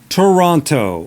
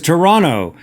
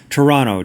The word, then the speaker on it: Toronto: live in Toronto, is Toronto. We don't pronounce the T in Toronto when you're in Toronto. Toronto, Toronto, Toronto.